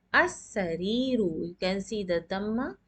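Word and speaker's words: السَّرِيرُ: As-sariru, and now you can see we are not pronouncing the lam.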